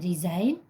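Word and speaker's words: resign: है दूसरा वर्ड है रिजाइन आर ई एस आई जी एन रिजाइन में भी सेम एन से पहले जी है तो य साइलेंट होगा रिजाइन मीस त्याग पत्र त्याग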